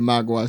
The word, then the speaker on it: mogwai: And he finds the mogwai.